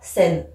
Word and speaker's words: Seine: Et la Seine, le E il est à la fin, du coup je ne le prononce pas. Ce qui fait que ce vers doit se prononcer sous le pont Mirabeau coule la Seine.